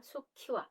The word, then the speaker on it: 수키와: 발음이 것에 지기 때문에 한 장씩 있을 때는 기와 라고 하지만 암 쏘 가 결합이 될 때는 암 키와 수키와 이렇게 발음 하셔야 된다는 것도 기억해 두세요 우리가